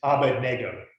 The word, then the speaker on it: Abednego: starts with an a now we always pronounce it a bed together but that's actually not what the name is it's abba nego a bed nego we